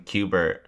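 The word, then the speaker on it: Cubert: fry it's his clone cuber and he's in a glass tube hubert j farnsworth it rhymes with hubert hubert yeah that's what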